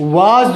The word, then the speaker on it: was: पढ़ नहीं पाते हैं डब्लू ए एस को वज पढ़ते हैं यहां बिंदु लगा हुआ है ये जो डॉट लगा हुआ है बिंदु लगा हुआ है नीचे इसका मतलब है ये जो एस है जेड का साउंड देगा जड का इसको क्या